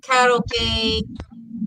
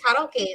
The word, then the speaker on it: karaoke: times I went to karaoke, and because it's actually Japanese, it's pronounced karaoke instead of karaoke, but it's okay.